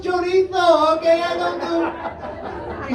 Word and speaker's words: chorizo: Like, it's pronounced chorizo, okay? I don't do. It's Spanish, not Italian.